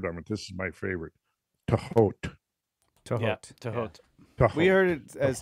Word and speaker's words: Thoth: Tehot. Tehot. We heard it as Tehoti, too. Tehoti. Jehuti. Yeah. There's multiple ways. Tehuti.